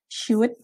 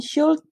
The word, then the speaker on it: should: ini rumusnya subjek + word bacanya Hood ya bukan world oke wood or shoot bukan should ya jadi subjek + wood